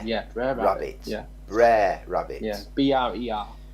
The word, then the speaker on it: Brer: yeah Brer Rabbit yeah BR er okay so it's Brer that rhymes with hare police about rabbits okay